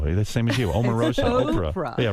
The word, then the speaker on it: Omarosa: Omarosa, Oprah. Yeah, right. It's a hard O, same as you.